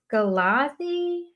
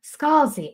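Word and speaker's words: Scalzi: Uh it's John Scalazi Scholsey uh Scholsey I always say his name wrong.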